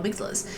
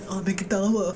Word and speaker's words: amygdala: statue that's above there the amygdala or as you noobs call it a mcdowell but maybe there is